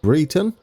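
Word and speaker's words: Brereton: comments this is called this is pronounced Britain there you go thank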